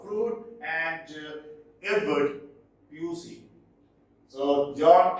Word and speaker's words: Froude: Richard Harold Froude, not Froude, Froude, and Edward Pusey.